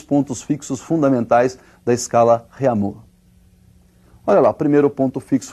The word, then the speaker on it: Réaumur: aí, que é a escala Réaumur, que nós vamos pronunciar Réaumur, né, que é aportuguesado de novo, né, e essa escala